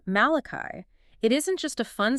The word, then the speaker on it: Malachi: So like the rhythm of Malachi or Mulligan. Right, I hear it now. Dee-da-da, dee-da-da.